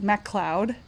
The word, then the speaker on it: MacLeod: Yeah, so his name's pronounced MacLeod, like Mac Cloud.